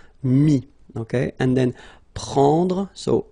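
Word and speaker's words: mis: And then mettre, to put, so E-T-T-R-E, will give you this I-S, mi. Same thing here, final S is not pronounced, mi, okay.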